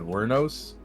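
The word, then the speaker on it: Wuornos: Her name is Eileen oh my God, Wernos.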